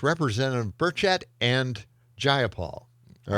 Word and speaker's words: Burchett: And uh Burchett Burchett No, Burchett. That's it. The emphasis is not it's not just one. It's just one syllable.